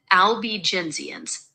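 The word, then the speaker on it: Albigensians: You pronounce it albenzians.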